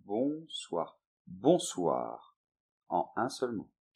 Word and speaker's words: Bonsoir: we then prefer to use the word « Bonsoir ». - "Bonsoir". - So be careful with the pronunciation. , "Bonsoir", one word only.